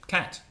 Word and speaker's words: cat: think a regional variation because I come from Belfast and in Belfast we don't pronounce that cat sound right I'm trying to make an effort now to say it well we don't normally pronounce it that way in Belfast we say it something like hat which isn't quite exactly what the oxford english dictionary will tell you but that's a regional variation now that's interesting because